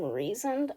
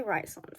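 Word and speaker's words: Rhysand: so I looked up apparently you say his name reasoned I'm not saying that he's going to be Rison for me and you guys are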